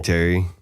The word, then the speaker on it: Terry: Anyway, Scary Terry. Sure. So I went to the does this guy's name rhyme with Barry? It also rhymes with Larry.